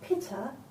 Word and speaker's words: pitta: You have got pitta, as in pita bread.